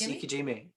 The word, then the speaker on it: ikejime: Ikejime? Yes, ikejime.